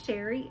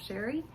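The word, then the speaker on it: Chere: My name is Sherry and that is spelled C-H-E-R-E. It is spelled a little fancy but pronounced plain old Sherry.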